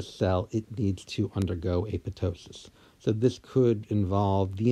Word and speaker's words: apoptosis: pronunciation of the word a pitocin so I am pronouncing it correctly with the silenced P yes many people will call this apoptosis but if you go